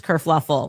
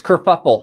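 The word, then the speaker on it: kerfuffle: Kurfluffle. Oh, no. That's it's kurfuffle.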